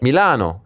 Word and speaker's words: Milano: Milano. You have to say it like that.